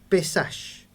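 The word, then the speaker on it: Pesach: partes bueno la Pascua la palabra Pascua proviene de un término hebreo que se pronuncia pesaj se escribe p e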